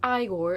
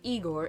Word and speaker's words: Igor: You have Igor, it's not Igor, it's pronounced Igor, played by Marty Feldman.